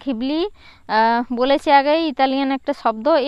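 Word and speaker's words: Ghibli: এই জিবলি গিবলি বা ঘিবলির আর ইসাও ওকাহাতা এবং তো সুজুকি গিবলি নামটি রাখা হ রাখা হয় একটি বিশেষার কারণে উচ্চারণের জিবলি বা গিবলি মূলত এটা ঘিবলি এই শব্দটি এসেছে ইতালিয়ান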